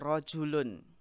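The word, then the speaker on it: رَجُلٌ: Nun sukun tersebut tidak ditulis namun diucapkan nun tersebut pada akhir isim nakirah. Ya, seperti rojulun.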